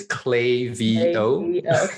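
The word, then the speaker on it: Klaviyo: the name clavio mm-hmm a lot of people pronounce clavio as clavio and i know that's not the right way to pronounce it because i actually had a shirt that says clay v oh yeah yeah tell me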